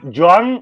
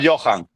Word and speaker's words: Joan: A Florentino que le gusta este perfil un poco con até salibá, eh, Joan Gadu, apuntáoslo. Joan, Joan, Joan Gadú, origen catalán, origen catalán. No, no, no. 195 francés o Johan.